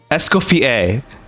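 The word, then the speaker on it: Escoffier: In French, the name of this legendary culinary innovator is pronounced August Esco. Escoier.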